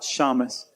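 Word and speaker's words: shamash: How do you pronounce that? Shamus.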